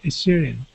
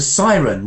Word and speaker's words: siren: okay now they now they hear a syrian it's a siren what is that siren